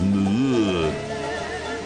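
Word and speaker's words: Moorea: get away from them, we're off to the neighbouring, soon-to-be-ruined island paradise of Muir, which is pronounced by the locals as Muir.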